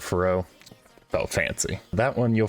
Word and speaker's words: Ferox: review of cannibal frox I think it's now pronounced fer-oux don't judge me too hard I call it fough oh fancy that one